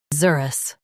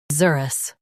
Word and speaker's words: xerus: Zer us Zerus Stress zer and keep us light.